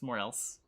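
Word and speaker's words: Moreelse: it's funny every pronounces more else differently it's because it's two words you have more and you have else it's more else how else do you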